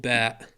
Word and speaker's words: باء: goat sound it's called Bat and it's pronounced B like the letter B it looks like a